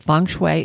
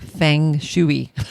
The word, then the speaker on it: feng shui: Feng shui is spelled Feng. Second word, Shui. So if you look at it and you spelled it phonetically, it looks like feng shui, but it's pronounced feng shui.